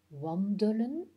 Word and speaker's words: wandelen: Wandelen, bevelen. Pour le wandelen, le E en jaune se prononce comme un E muet. Wandelen.